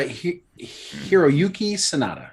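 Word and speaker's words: Hiroyuki Sanada: anyways hiroyuki sonata okay right is that you're pronouncing the hunter it's uh hiroyuki sonata yes you got it yeah um you seem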